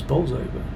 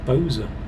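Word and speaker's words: Bolsover: close to the motorway but um the correct pronunciation is balls over unless you're from bowls over and then it's bowser so google might go with the correct pronunciation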